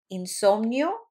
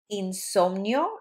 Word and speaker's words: insomnio: Insomnia / sleeplessness, we have insomnio. So in Spanish, the I is pronounced like E, E, insomnio.